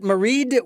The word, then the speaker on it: Maighread: By the way, is that Maighread with a D at the end or just Maighread? I pronounce it with the D.